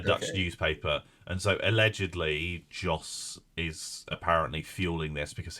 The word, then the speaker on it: Jos: should have said because his name rhymes with zos just stappen Vos justen